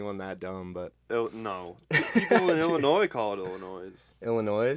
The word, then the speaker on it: Illinois: that dumb but no ill annoy just like silent it's like subtle when people in only do it it's like illinois' it's like the up barely